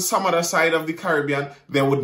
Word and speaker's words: Caribbean: Caribbean, not Caribbean.